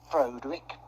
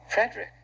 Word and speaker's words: Frederick: Do you also say Froderick? No. Frederick. Well, why isn't it Froderick Frankenstein? It isn't. It's Frederick Frankenstein. I see.